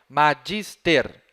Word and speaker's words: magister: Agora, prestem atenção na penúltima sílaba, a sílaba dis. Ela tem o bráquia? Não. Se não tem o bráquia, eu tenho uma boa notícia para dar para vocês. Ela é a tônica. Magister. Essa aí é a tônica.